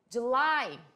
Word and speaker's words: July: July. July. Cuidado ao querer falar Julie. Muita gente vai querer falar Julie, mas não, é July.